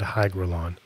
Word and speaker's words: hygrolon: brush and then covered in Gorilla Glue and hygrolon that's spelled h-y-g-r-o-l-o-n for everybody in the comments that's